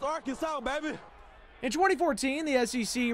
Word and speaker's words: Arkansas: I got that wood, and that's how you pronounce it, ain't Arkan. It's Arkansas, baby.